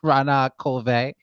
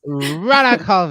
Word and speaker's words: Renee Colvert: Wait, doesn't your name pronounce something different? Rana Colve. Sure. Yeah, I'll answer to anything. It's fine. I don't think it matters. Rana Colve. It's Yeah. fancy. It's French.